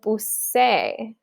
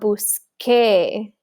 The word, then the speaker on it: busqué: If we just add the E, we end up with busé, which sounds weird. We want busqué, so we need that QU.